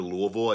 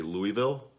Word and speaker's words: Louisville: I moved to Louisville you say Louisville but it's it's supposedly Louisville and then once I was there I just always said it like that so I mean sue I actually say it both ways and I believe I